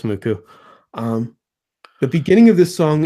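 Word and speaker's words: MUCC: Spelled M-U-C-C, it's pronounced Muku.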